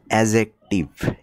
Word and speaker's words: adjective: উচ্চারণটা হচ্ছে এডজেক্টিভ। ড এর উচ্চারণটা হবে না।